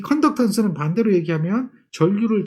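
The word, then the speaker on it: conductance: 그래서 이걸 컨덕턴스라고 하죠. 컨덕턴스. 이해하셨죠? 컨덕턴스. 턴스가 많아요. 또는 콘덕턴스 이렇게 얘기하기도 하죠. 콘덕턴스, 컨덕턴스 영어 발음상 차이인데 그렇게 저항이 역수되는 개념으로 직렬 연결을 해요.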